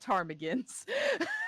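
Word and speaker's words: ptarmigan: is a bird game if I just take off the P it's tarmigan oh my God this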